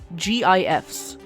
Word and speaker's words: GIF: I sound out the letters. I say GIFs and I have always said it that way for and I gained several thousand followers on Tumblr for making them.